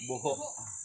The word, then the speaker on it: Buho: Ano ba yung tamang pagbigkas ito? Buho or Buho? Buho.